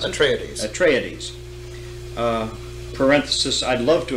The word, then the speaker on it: Atreides: You have the forces of the House of Atreides, do you pronounce it? Atreides.